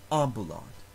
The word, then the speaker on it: ambulat: third to last syllable ambalad in the word festinot the second to last syllable has a long vowel